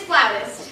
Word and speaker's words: flautist: Well, darling, if you pronounce it flutist, everyone will laugh at you. It's flautist.